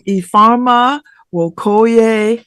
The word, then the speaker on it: Ifeoma Nwokoye: Earma Wokoy. How are you? I'm doing so well. How are you, Babs? Did I pronounce it correctly?